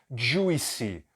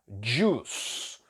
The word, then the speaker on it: juice: jus que significa suco Então essa palavra não é juice né Eu disse que muita gente aprende errado porque as pessoas tentam ler o que está escrito e se você fizer isso você vai realmente pronunciar errado então não é juice juice não a pronúncia é jus jus Então você vai pronunciar aqui como se fosse um DJ u s Dios eu já disse